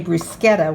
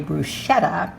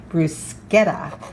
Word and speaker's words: bruschetta: make this bruschetta and i did say bruschetta with a long k i have had many of my italian speaking friends correct me and so i have finally learned how to pronounce it properly not the way most americans say bruschetta but in the italian way bruschetta with the hard k as i start to